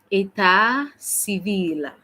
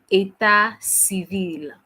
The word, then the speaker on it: état civil: Marital status in French, we say état civil. Okay. Répétez après moi. État civil. Encore. État civil. Bravo. On essaie de prononcer état civil.